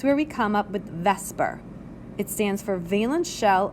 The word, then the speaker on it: VSEPR: so in comes our Vesper Theory v s e p r and yes it is pronounced Vesper the Vesper Seer Theory